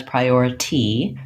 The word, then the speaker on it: priority: prior your this T Americans will not say this as priority that's a more British or other dialects of English pronunciation we change that T to a flap so oftentimes when I T is between two vowel sounds in a word in American English it just sounds a little bit more like a light